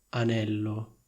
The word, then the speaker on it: anello: Quindi confrontiamo le due frasi. Da un lato c'è ho vissuto un annetto a Roma e dall'altro c'è le ho comprato un anello. Sentite la differenza? Annetto, anello.